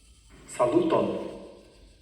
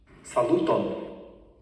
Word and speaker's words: Saluton: In Esperanto, the word for hello is Saluton. Can you try pronouncing? Saluton.